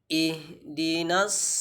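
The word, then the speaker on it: اهدنا: Who ayat yang ke-5 ihdinas sirotol mustaqim itu ada huruf H maka sempurnakan pengucapan huruf H Jangan sampai kita membaca Ha eh itu tidak boleh tentu nanti mengubah makna ihdina ihdinas sirotol rosot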